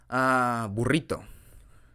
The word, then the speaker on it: burrito: Because the rrr, yes. Yes, that sound alone, it's so difficult. Like, there's even a, how do you say this in English?